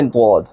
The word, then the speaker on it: ضاد: ضاد ادا ہوتا ہے۔ ضاد کو جب ادا کریں گے تو اس کے اسپیلنگ اس طرح، ضاد زبر الف مد دال، آخر میں دال ہے، حروف کلکلہ، اوپر مد ہے، لفظ کو کھینچیں گے، ضاد ضاد ضاد۔ اب شروع سے پڑھیں